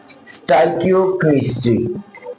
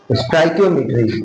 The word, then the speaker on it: stoichiometry: Chapter number four का नाम है स्टाइकियोकेमिस्ट्री। स्टाइकियोमेट्री। क्या नाम है? स्टाइकियोमेट्री। स्टाइकियोमेट्री। ये जरा प्रोनाउंसिएशन सही तरह आप लोगों ने अदा करनी है।